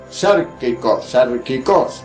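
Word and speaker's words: σαρκικός: Se escribe igual, pero esta no lleva la P por delante, pero también termina en K de kilómetro y ambas tienen acento en la O, sarkikos, quiere decir carnal.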